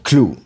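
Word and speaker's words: Kluh: super méchants ont leur limite et maintenant clou oui ça s'écrit KL uh h comme l'inverse de Hulk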